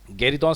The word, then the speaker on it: गेरिदों: एज यू कैन सी on your screen it इज़ गेरिदों। हालांकि कुछ लोग इसे गुरिदों भी प्रोनाउंस करते हैं। आप प्रोनाउंसिएशन चाहे जो भी करें, वो हर प्रोनाउंसिएशन सही है बशर्ते कि वो स्पेलिंग से मैच करता हो।